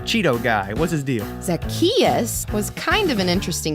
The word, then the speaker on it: Zacchaeus: Zacchaeus. Zacchachusa. No. Zazacchino. What? No, it's like Zach. Just say it after me. Zacchaeus.